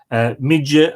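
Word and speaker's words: Mide: Uisneach in me, M-I-D-E, which with the Lenitian, I think is pronounced me, Midge, some people would call it, and giving rise to the modern county name of Meath, the Middle Land.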